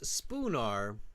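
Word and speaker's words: Spoonar: 1653 not as it's spoar spoar Street yeah spelled with an a um so make sure thatth you write the a there they said spoar right like the word spoon spoon s p o o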